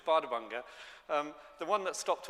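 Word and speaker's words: Bárðarbunga: Um, and I can't help showing a picture of my favorite volcano, which did you pronounce it? You didn't, did you? You see, it's it's Bardabanga.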